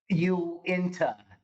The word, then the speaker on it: Uinta: think us having an office space here at Owinta Fireplace, and I know I say that wrong. Yeah, completely wrong. Can you say it right just right now? Just practice it right one time. Uinta.